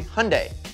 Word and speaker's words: Hyundai: know the korean factory hyundai it rhymes with sunday at least that's how